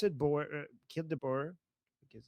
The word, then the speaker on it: Boer: just like the boar, the animal. Okay. So what is this? Is it kill the Boer chant? Is Boer referring to white people?